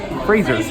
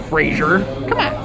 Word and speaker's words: Frasier: says frasier but apparently he even says it's fraser it's fraser not frasier fun fact did you